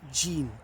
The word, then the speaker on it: Ji'in: I did Wankan yesterday and today I've opened the envelope and it's Ji'in. J-I-I-N. So 2 vowels, got to pronounce them both.